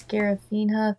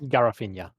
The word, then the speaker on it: Garafina: It was, I'm gonna butcher that pronunciation, but it was Scarafina 13 that hydrated us. Garafina. I was close with the pronunciation.